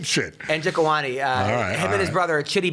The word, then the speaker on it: Njokuani: Njokuani.